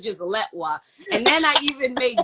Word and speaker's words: Letwa: Yeah, I get it all the time, but yeah, it's uh the E is pronounced like an A, so it's like Latwa.